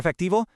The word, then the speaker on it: efectivo: For efectivo, that V sound is really soft, almost like a B.